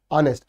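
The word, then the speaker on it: honest: च्या अगोदर अन का आलं कारण त्याचा जो प्रोनन्सिएशन आहे तो काय होतो ठीक आहे एच हत ऑनेस्ट अन ऑनेस्ट ठीक आहे चला पुढचा द फ्रेज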